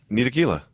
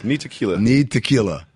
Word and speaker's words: Ntilikina: I love how everyone pronounces his name different. Ntilikina. I did research on this. Ntilikina.